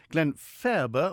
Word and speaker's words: Glenfaba: standing in peel and Glen faerber always a question mark about how it's pronounced i like to call it Graham fair but it's nicely in the middle he's 48 married with